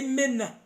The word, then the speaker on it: manna: Bano ne bakutuuma erinnya manna double N. Bwe bakutuuma manna. I mean pronunciation yaabwe eri menna. Menna.